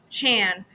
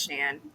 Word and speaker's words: Chan: Just that little bits of Chan. I'm sorry, I know it's Shan and it's spelled the Yeah.